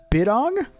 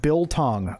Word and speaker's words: biltong: It's pronounced biltong.